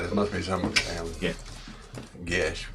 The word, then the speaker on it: Geas: Gesh with no H. This is a different language. It's Irish.